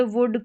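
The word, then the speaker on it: would: तो यहां पर एल जो है एल जो है वो साइलेंट रहता है। ओ यू को उ करके प्रोनाउंस किया जाता। अब इसको शुड या वुड करके नहीं पढ़ेंगे। एल साइलेंट है।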